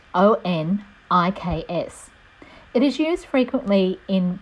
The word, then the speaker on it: onyx: our images for fingernails the technical term for the nail is onyx pronounced Oh N IKS it is used frequently